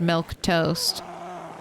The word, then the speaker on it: Milquetoast: I was also like there's no way that word's pronounced milk toast but it is all right K will